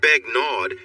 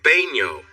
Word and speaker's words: Begnaud: It's not Begnaud, it's pronounced Baigno. The D? It's silent.